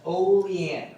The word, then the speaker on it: Olean: It's right outside of Buffalo, New York, and again, that's pronounced Olean, all right?